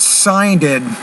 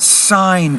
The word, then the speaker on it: signed: If I make plant past, I'll say planted. I do put ED and an extra syllable on that, but not on the word signed.